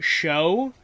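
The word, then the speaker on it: Chaud: a dumb name apparently his name is supposed to be show because it's uh French for fire and that's how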